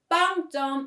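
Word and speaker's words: 빵점: means zero points by the way the word bang jong is pronounced the same as bang bread that we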